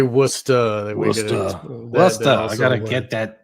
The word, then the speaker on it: Worcester: This is Hoagland sending something to Esther Brooks from Worcester, I guess. Worcester. I'm obviously not from the East Coast. Yeah. You could say Worcester.